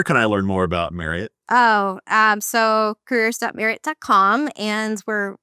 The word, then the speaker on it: Marriott: Just make sure you pronounce it Marriott. Marriott. That is Megan Radigan, VP of talent acquisition experience. Megan, where can I learn more about Marriott?